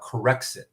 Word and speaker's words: Corexit: very early on about corexit corrects it is produced by british petroleum corexic has been banned in britain corrects it is spelled c-o-r-e-x-i-t like it corrects the mistakes right correct sick is a